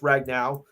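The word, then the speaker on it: Ragnow: Bowl Frank ragn now I think it's pronounced ragn now is said return after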